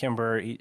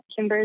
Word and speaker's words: Cimber: He's like, hey, you need to contact Cimber.